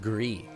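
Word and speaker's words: Gris: It's pronounced Gree.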